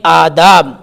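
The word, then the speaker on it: آداب: क्या पढ़ें गुफ्तगू के आदाब के आदाब ये अलिफ के ऊपर मद है तो खींचेगा अलिफ खींचेगा आ दाब दाल अलिफ तो दाल भी खींचेगा आदाब आदाब बा साइलेंट हो जाएगा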